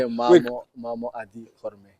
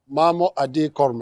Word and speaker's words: Mamo Adi Korme: Okay, Mamo Adi Korme. Mamo Adi Korme.